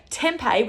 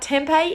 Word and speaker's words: tempeh: I also find that for the vegans out there, tempeh, which is spelled T-E-M-P-E-H, and you can get it at any shopping center or health food store.